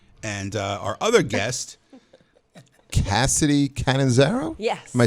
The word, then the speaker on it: Catanzaro: Cassidy Catanzaro?